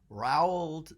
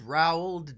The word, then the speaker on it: Roald: How many of you are fans of Roald Dahl? I don't know exactly how to pronounce his first name. I never did, and I don't think I've ever heard anyone pronounce it. But it's Roald.